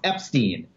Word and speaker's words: Epstein: he would have said and my name is pronounced Epstein and my mother always told me but that's